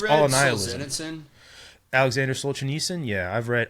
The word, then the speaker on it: Solzhenitsyn: Solzhenitsyn? Alexander Solzhenitsyn? Yeah, I've read Gulag Archipelago, is that how you but I've never pronounce his name?